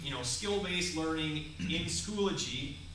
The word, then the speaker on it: Schoology: week or two in something called Schoolology. I can never pronounce that correctly. Schoology, thank you.